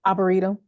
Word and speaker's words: Arboretum: Is that how you pronounce it? Arboretum.